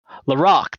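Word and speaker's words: Laraque: i do not but it's l-a-r-a-q-u-e i think it's laurel wouldn't it be lorac lorac there it is see there's my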